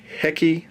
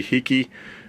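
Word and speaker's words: Heki: a German company called hecky I believe is how it's pronounced or maybe HEI I'm not German so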